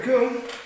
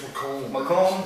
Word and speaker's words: McComb: You're going up against Jared McComb. Yeah, I think it's Macomb.